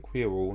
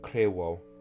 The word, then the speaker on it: nakryło: Nakryło, because I'm saying quiro, not kryło.